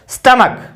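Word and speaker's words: stomach: स्टमक, एस टी, ये टी है, स्टमक, ए एम ए कै, स्टमक, यानी सी एच से कै साउंड आई है।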